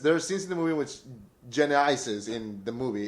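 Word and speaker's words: Genisys: It's pronounced Genysis.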